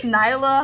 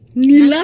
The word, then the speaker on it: Nyla: Yeah, it's Nyla. Hope nobody, like, Nila. Mispronounce my name. I'm like, Nala? Like, no. Nyla.